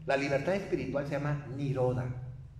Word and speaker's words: nirodha: Pero esta nirodha, así se escribe, como nirodha, como se oye, es la antesala al nirvana.